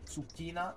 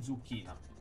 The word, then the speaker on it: zucchina: Comunque la pronuncia corretta è zucchina, non zucchina.